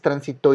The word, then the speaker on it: transitó: Transitó, escuchen bien, transitó. En este caso es una palabra aguda, la sílaba fuerte está en la primera y se encuentra en la última, la sílaba fuerte.